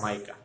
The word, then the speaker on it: mica: Okay, MICA, इसको मिका नहीं पढ़ना है। एक फेमस सिंगर का नाम है मिका, आपको पता ही होगा। इसका स्पेलिंग, उसका भी यही स्पेलिंग होता है, but over here we are talking about mineral and इट is pronounced as माइका।